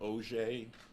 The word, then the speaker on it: Auger: spell it correctly so my name is OGE it looks like auger a u g e